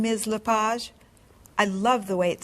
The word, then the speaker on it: LePage: just a few minutes is your last name pronounced leage it's leage actually oh that's beautiful thank